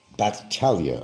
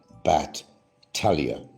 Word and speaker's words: Battaglia: But that's not how it's really pronounced. Bat, like a baseball bat to somebody's head. Bat, Talia. And you don't pronounce the G. The G is actually silent.